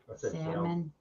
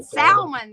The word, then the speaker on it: salmon: said because you said Salman the other day and we were like wait the L is silent you said No I